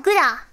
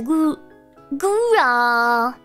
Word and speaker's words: Gura: No, Guda! Guda! Wait, how did she say my name? I can actually hear how everybody says my name in my head. When I join the Discord, she goes, Hi, Guda! No, she says Gura.